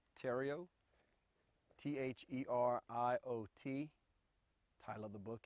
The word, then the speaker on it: Theriot: to do for me please state your name spell it also give me the title of your book p tario t-h-e-r-i-o-t title of the book is american energy